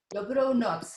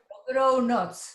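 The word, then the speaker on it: dobrou noc: Dobronoc. Dobrona. Dobronoc.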